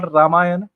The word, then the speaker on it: रामायण: तो रामायण सही शब्द है, रामायणा नहीं है।